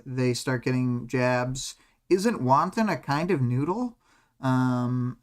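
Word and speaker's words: wonton: um and then tekon corrects their pronunciation again uh wanton like wanton destruction um but you know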